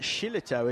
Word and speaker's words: Shillito: It's Vinny Shillito. I find out later that Shillito is actually pronounced Shillito. Very rock and roll.